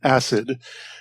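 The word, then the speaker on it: ASID: incorrectly pronounce it as acid previously that was recently corrected this was invented by a Swedish company called electron and their preferred pronunciation is indeed acid so I apologize for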